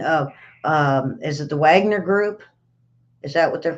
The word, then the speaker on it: Wagner: um is it the Wagner group is that what they're called Wagner group w-a-g-n-e-r yes they say it they pronounce it W's or views over there okay um uh so